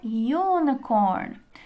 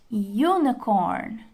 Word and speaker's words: unicorn: Agora, pessoal, vamos lembrar daquela cena do unicorn. Pronunciem comigo. Unicorn. Unicorn. Percebam que o som no início ele é um pouquinho diferente do U? Ele tem o som de uma consoante, como se fosse um Y.